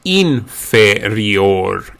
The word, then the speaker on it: inferior: Inferior becomes inferior. Inferior. The I again, the first initial I, is pronounced as an E.